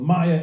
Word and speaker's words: Meyer: And he's pronounced it Meyer. My dad was born in Berlin. 93 years old. Meyer is the correct pronunciation. I've always said Mayer. I just think it's friendlier, less Germanic.